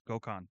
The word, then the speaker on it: Gokhan: It's Gokhan. Like Genghis Khan.